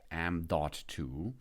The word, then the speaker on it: M.2: the M 0.2 the end point two it's pronounced m.2 and formally knows as the Next Generation form